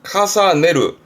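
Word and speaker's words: 重ねる: 카사네루. 카사네루는 에 발음의 루 붙습니다.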